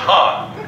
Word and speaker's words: Han: It's pronounced Han.